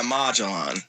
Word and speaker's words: Magellan: Oh yeah, Magellan. That's how it's pronounced. I forgot about that. You gotta say it like a Power Rangers doing.